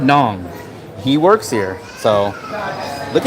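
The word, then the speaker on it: Nẵng: So, you guys just heard I just said Daong or Da Nang. And he said, "No, not Nang." Nong.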